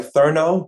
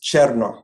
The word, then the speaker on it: Cherno: On paper, my name looks like Therno, but it's pronounced Cherno, like the word chair and the word no put together.